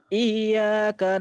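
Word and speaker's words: إياك: Ini saya ini lagi ya, kayak ini yang iya, jangan dibaca iya, itu kan ada tasjwid tuh. Iya. Jadi bacanya iyyaka na'budu wa iyyaka nasta'in gitu.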